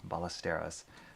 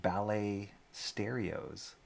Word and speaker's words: Ballesteros: And one time somebody, for my last name is Ballesteros, somebody pronounced it ballet stereos, like ballet the dance and stereos.